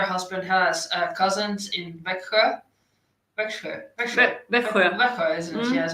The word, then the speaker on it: Växjö: Växjö, isn't it?